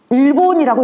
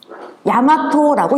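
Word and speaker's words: 日本: 그런데 읽을 때 일본이라고 읽지 않습니다. 야마토라고 읽습니다.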